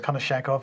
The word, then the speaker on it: Konashenkov: Igor here, I'm not even going to try to pronounce his surname. Konashenkov, I reckon. So it's Konashenkov, yep.